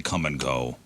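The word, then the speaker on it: Kum & Go: over a bonfire mhm I know how we'll spell it with a k u m cool it's like quick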